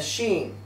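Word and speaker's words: שׁ: in writing the letter if the dot is placed above the letter it's pronounced a Sheen if the dot is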